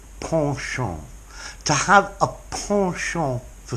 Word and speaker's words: penchant: there students partial partial I did look up the American pronunciation and the Americans say penchant but as a good middle-class Brit I would say Porsche on to have a Porsche